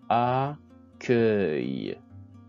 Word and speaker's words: accueil: Accueil, accueil. Cercueil, cercueil. Vous remarquez que le U se place avant le I pour prononcer K, K.